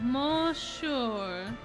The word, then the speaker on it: monsieur: Oh, monsieur. Oh, is that how that's supposed to be pronounced?